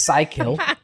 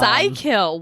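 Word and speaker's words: Psykill: the Gobot I should say his name is psycho and uh Psy kill wow yep his name is Psy kill and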